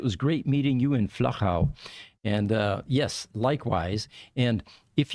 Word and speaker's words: Flachau: So it is not Flachau, or anything like that. You have to be able to use the German and the Austrian pronunciation. It's Flachau.